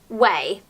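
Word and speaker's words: Ouai: new hair care range which is spelt oua I but apparently you pronounce it way I picked up the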